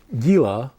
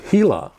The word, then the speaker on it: Gila: past the indian reservation it's not the gila indian reservation it's the gila in that case the the g is an h but in the case